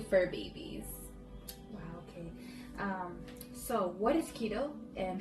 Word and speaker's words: keto: I'm glad that you pronounced it as keto because when I first heard of it I thought it was kettle I think so that's